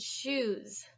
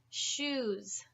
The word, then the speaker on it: shoes: have choose choose and shoes shoes okay I would like everyone to pronounce choose choose good job now say shoes shoes do you see that difference mm-hmm should choose and